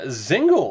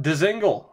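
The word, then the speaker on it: Dzingel: in this series Ryan zingle apparently the uh the D is silent it's not Dingle apparently it's zingle at least that's the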